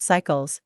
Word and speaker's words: S1QEL: They call these molecules site-selective electron leak suppressors, SELs-S3QELs, pronounced sequels, for the complex 3 site, and S1QELs, pronounced cycles, for the complex I site.